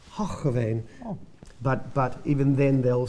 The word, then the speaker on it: Hoogeveen: Dutch producers will laugh, because us Australians would always say Hoogeveen, but I've been told about 1 million times that it's Hoogeveen.